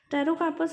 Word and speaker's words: Pterocarpus: Pterocarpus is a drug in which P is silent.